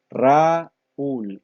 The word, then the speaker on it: Raúl: Raúl, la sílaba tónica es la última.